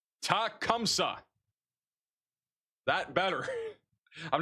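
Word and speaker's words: Tecumseh: Tecumsa is how you say it. Tas I can't say this name. Tacumsa.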